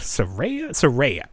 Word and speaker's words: Saraya: Then they're doing a new wave with, let's see, Paige, who is known as Saraya, or Saraya.